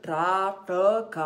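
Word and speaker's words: trāṭaka: chora não gancho tão o trata com a pronúncia certa dele seria tá troca ó não trato tá troca 2º t tem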